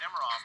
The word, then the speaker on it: Nemiroff: All right, back to Nemiroff now.